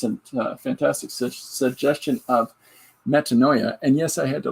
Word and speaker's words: metanoia: to pronounce it um am I saying it right yeah metanoia all I knew it was medonia um so we've got